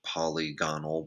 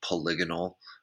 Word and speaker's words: polygonal: pronunciation of that because I've definitely said poly gone old before but the correct way is polygonal kind of a cool